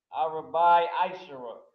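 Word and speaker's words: ארבעה עשר: Arabai Aishara. So this is how you say the 14th day in Hebrew.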